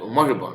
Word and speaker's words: moribund: Now, and this word is pronounced. Now, press normal. Listen. Are you moribund, right?